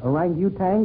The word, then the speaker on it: orangutan: Buck, how do you pronounce that? Orangutan or orangutan?